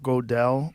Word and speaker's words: Gödel: And I think, was it Kurt Gödel? Like, how do you say his name? Gödel, yeah. Gödel. Mm-hmm. It's that weird umlaut. Umlaut. Yeah. How do you say it? What's Gödel. Gödel. Gödel. It's Gödel.